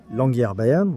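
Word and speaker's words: Longyearbyen: Qu'est-ce que vous aimez le plus dans le fait de vivre ici à Longerbienne ? C'est comme ça qu'on prononce Longban. Longer Bayern.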